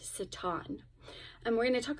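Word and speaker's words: שָׂטָן: to Satan or actually in um the original language Hebrew that is pronounced Satan and we're going to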